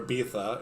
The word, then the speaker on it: Ibiza: the Mediterranean Paradise of Ibiza or bitha if you say it like the locals but I won't I'm going to say Ibiza whatever uh -huh selling